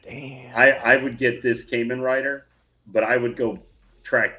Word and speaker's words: Kamen Rider: Kamen Rider.